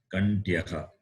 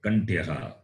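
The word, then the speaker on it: kaṇṭhyaḥ: H is not like the English H, it is got dot at the bottom. Visarga. So you have to pronounce Kantyaha. You will see that later, how it is pronounced, Kantyaha. So you can hear and remember the pronunciation, Kantyaha.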